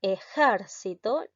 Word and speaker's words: ejército: palabra grave en cambio la otra ejército la sílaba tónica recae en la sílaba ger y esta palabra es un sustantivo y también es una palabra esdrújula te das cuenta de